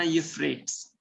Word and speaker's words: Euphrates: Okay, इसको pronounce करना यूफ्रेट्स।